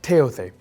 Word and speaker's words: Thoth: He was accompanied by Thoth, or otherwise pronounced Teothe, the god of wisdom, the god of architecture, and so on.